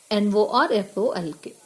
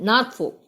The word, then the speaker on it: Norfolk: The voice in the dream insists that I must go to a place called Norfolk. Here L is silent, okay? Norfolk, okay? And L is silent. Norfolk.